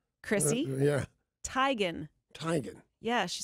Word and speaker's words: Teigen: saying her name wrong it is not Teigen it's Tigan I met her first name Chrissy yeah Tigan Tigan yeah she said